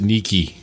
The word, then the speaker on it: niche: Eric said that he really liked the word neech I was gonna I was too could have said it earlier I was you pronounced it Nikki but I'm like I